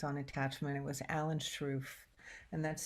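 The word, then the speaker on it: Sroufe: their longitudinal studies on attachment it was Alan struff and that's spelled s-r-o-u-f-e um and he's from Minnesota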